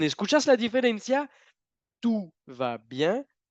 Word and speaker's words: tout va bien: Bueno, la primera, tenemos la OU juntas, que en francés indican lo mismo que la U normal en español. OU juntas, sonido U normal.